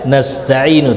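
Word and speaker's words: نستعين: Kata ini harusnya iyyaka na'budu wa iyyaka nasta'inu.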